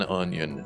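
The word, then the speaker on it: Unyon: his name is uh his name is John onion is his name and it's spelled u-n-y-o-n thank you that's good I feel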